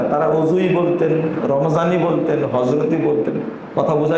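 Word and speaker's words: رمضان: যেমন আমরা রমজান বলি না, রমাজান বলি, ওখানে জোয়াদ আছে, কিন্তু কাদি বলি না কাজী বলি, কাজী, ওখানেও কিন্তু জোয়াদ আছে।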